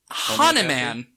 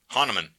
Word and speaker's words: Hahnemann: in 1796 by a man that I'm gonna mispronounce called Samuel Hahnemann Hahnemann spelled HH + e MA and n okay yes Hahnemann hanaman Hannah yes it's the best of all he